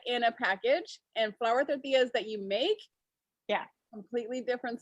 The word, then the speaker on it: tortillas: a package and flour tortillas that you make, completely different smell. Yeah. Isn't that, like, say that again. Tortillas. Tortillas? Yeah, you got it. Tortillas. You gotta roll your R like.